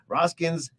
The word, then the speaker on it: Roskin's: at roskin's Jewelers Jeweler we're asking raska's or raskins I'm gonna have messed them both up if I don't say it right roskin's Jewelers okay is it Jewel or jewel is